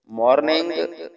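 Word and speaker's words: morning: मॉर्निंग M meme की आवाज देगा, ओ की आवाज देगा, यानी अलिफ और वाव की मिली जुली।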